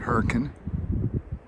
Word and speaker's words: Hurricane: We're at Hurricane Cliffs just outside of Hurricane or as the locals pronounce it, Hurricane.